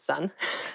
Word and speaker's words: son: S O N is pronounced exactly the same as s u n. Sun. What are you talking about? Son.